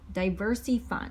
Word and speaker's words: Diversy Fund: We did CrowdStreet and diverse Diversey Fund. So it's spelled Diversy Fund, and it's not for diverse people. It's just called Diversey Fund, and it's pretty new crowdfunding, and they offer good rates and returns.